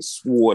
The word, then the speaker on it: sword: He said, sword. I pronounced it like the sword, like the Wu-Tang thing.